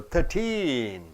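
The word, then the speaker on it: thirteen: When you say the age, when you say the number, you have to stress the last syllable, 13.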